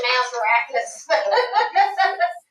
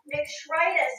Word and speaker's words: McShritus: I always say Mazarakis. Now wait, say that again to me. McShritus. McShritus. It rhymes with arthritis.